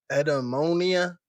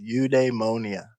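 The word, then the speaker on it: eudaimonia: At the center of this is Edom Edmononia. We're like 0 for three on these pronunciations. It's pronounced udemonia.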